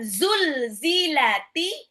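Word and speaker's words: زُلْزِلَتِ: lidah seperti mau digigit sedangkan ketika mengucapkan zulzilati zulzilati sama zilzal itu pakai z z itu lebih cenderung ke Z itu lebih cenderung kepada z z di alfabet kita ya Jadi bukan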